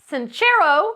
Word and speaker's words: Sincero: you are a badass by Jensen's chero that's how she pronounces it sincero this author this woman